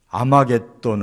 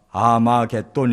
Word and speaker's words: 아마겟돈: 바로 떠오르는 단어 거든요 거기에 이 학자를 앞에 붙여서 하 무기 또 가 아마겟돈 이라는 이 헬라어 발음으로 이렇게 명칭이 바뀐 거예요 그렇기 때문에 2 아마겟돈